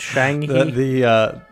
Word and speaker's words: Shanghai: and by the way, that's how you pronounce it. I'm American. It's Shanghai.